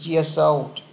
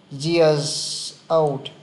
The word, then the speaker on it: years: để nó nối sang years old years old cứ đọc thêm chữ z vào đi nó nối được sang chữ â này đọc nhanh nó sẽ